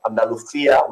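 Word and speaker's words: Andalucía: southern part of Spain it's what we call Andalucia Andalucia we pronounced and in andalia there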